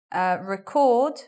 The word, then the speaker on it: record: And let's look at record, which is a verb to capture on film, like now, I'm being recorded.